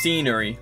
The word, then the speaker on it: scenery: So the answer here is 2, scenery, because SC is pronounced just like an S.